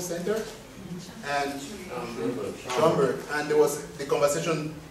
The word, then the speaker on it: Schomburg: So, I was at the 200th anniversary of the end of the Atlantic slave trade at the, how do you pronounce it, Schomburg Center? And Schomburg.